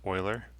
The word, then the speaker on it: Euler: An Euler circuit, that's pronounced Euler.